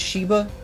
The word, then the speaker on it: Sheba: Sheba let me check cuz i've been saying shaiva for like four days now oh ok ok Oh is Sheba her japanese name is exactly the same it's pronounced Sheba all right so it's Sheba I was wrong